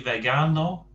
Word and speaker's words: vegano: So note we've got the soft G in vegetariano and the hard G in vegano. That, of course, is because the G sound varies depending which letter it's followed by. If it's followed by an E or an I, E, it's a soft G, a H sound. If it's followed by an A, it's a hard G.